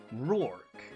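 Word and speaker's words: Roark: Rourke. Yes. I'm like Roar with a K.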